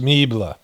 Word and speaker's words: Melber: It's pronounced Meebla.